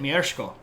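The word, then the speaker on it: Mieszko: rules until 992 um someone should tell him there's no R in his name right but that's how you pronounce it that's how you say it mko uh it's this that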